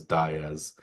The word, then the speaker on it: Diaz: with Atlanta but Matt Diaz um I believe it was Bob Davis I remember pronouncing Matt Diz very emphatically as Diz uh when he was